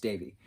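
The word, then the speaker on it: Devi: pronounce de VI it's felt de VI is pronounced Davey so Davey lives with her mom and her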